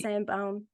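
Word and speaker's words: Sainte-Baume: I've so wanted to go to all of those places, to St. Baume. That's how you say it, right? Yeah, St. Yes, Baume. Saint-Baume.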